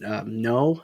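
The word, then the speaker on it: Noh: uh their live art forms such as uh no is that how you pronounce it yes yeah such as that and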